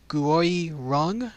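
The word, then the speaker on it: Người rừng: The official name of it, and it's kind of hard to pronounce, but it's called the Nguoi Rung. It's spelled Nguoi and then Rung, and that is the official name, but it translates into forest people.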